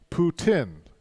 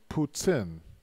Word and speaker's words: poutine: is the correct way in Quebec where poutine is from we pronounce it poot in or Poots in if you're French boots in puts in puts in we understand both but you look silly